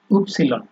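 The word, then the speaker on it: Ypsilon: তারপরে হচ্ছে আপনার এক্স, উপসিলন। এটা আমরা এতদিন জানতাম, ইংরেজিতে দেখে আসছি যে এটা হচ্ছে আপনার ওয়াই, কিন্তু ডয়েচে এটা আপনার উপসিলন।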